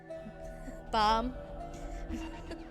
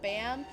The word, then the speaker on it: Bam: I prefer bomb over bam, and bomb's also the correct way you're supposed to pronounce it.